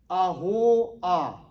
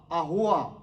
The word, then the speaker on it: Ahoah: That's spelled N-A-A-M-A-N. Naaman. Son number 6 is Ahoah. Ahoah. A-H-O-A-H.